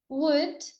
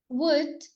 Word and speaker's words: would: The L is silent in would, could, and should. Could would should could.